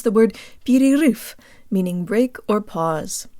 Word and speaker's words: перерыв: I'm and today you'll learn how to pronounce the word beauty roof meaning break or pause say the letters P